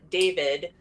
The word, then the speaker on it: D4VD: So on September 8th, there's a singer, David. It's spelled D4VD, which looks like the word dead.